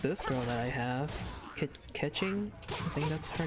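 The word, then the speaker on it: Keqing: I'm assuming it's pronounced Ketching, because usually, like in, I'm assuming this is a Chinese game, because yeah, if it is, usually Q is pronounced like with a CH.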